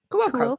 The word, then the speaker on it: Cuoco: the lady from the Big Bang Theory, Kaylee Cuoco? Is that what you say? Cuoco, yeah.